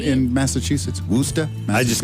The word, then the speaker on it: Worcestershire: the Boston shirt on, I have to say Worcester. Worcester. How just does call it anyone the- know how That's to how they pronounce say it it right? in Massachusetts. Worcester.